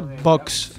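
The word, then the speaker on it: Vox: pronunciar porque no es porque todo el mundo dice vos y eso es de electrodomésticos bosch se dice box digo un ace y después una s vale mamá box ok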